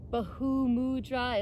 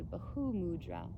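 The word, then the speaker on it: Bhu mudra: we come back into bahu mudra it's spelled b-h-u so bahu you pronounce the h to bahu mudra so it's like piece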